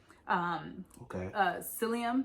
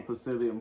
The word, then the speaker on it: psyllium: beans, eggplants and okra, psyllium. You've probably seen like psyllium husk. spelled psyllium. The P is silent.